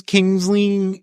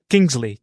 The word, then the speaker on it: Kingsley: liked that and Ben's kingsling is or is that how you say it Kingsley Kingsley yeah yeah I saw his